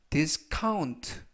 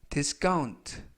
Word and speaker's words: discount: 이때 C 발음을 카 또는 약간 강하게 하셔서 까, 그래서 discount 또는 discount 모두 맞습니다.